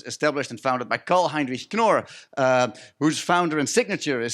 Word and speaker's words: Knorr: So, as Matt just said, the Knorr brand, and he pronounced that with a K, which is already a great win.